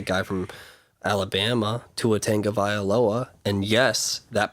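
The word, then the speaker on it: Tagovailoa: you got the guy from Alabama to a tank of I Aloha and yes that pronunciation is correct and you also have Jalen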